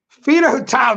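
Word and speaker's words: Fedotov: Fido tiled tonight. Who? That's how you pronounce the name.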